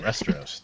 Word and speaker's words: Resteros: Like Westeros, but with an R. Yeah. Oh, Resteros, not Resteros.